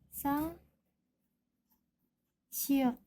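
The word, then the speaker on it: 쌍시옷: Huruf ini namanya sang siot. Pengucapannya seperti huruf S yang ditekan.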